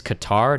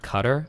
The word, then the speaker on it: Qatar: It's Qatar, not cutter.